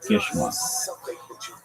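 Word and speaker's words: געשמאַק: If your nephew, Geschmack, pronounced Geschmack, is a Yiddish word that means delicious, pleasurable, fun.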